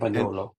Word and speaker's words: Campagnolo: I'm going to mispronounce the name. Is the bike park company? Is it Campagnola? Campagnola? And Campagnolo.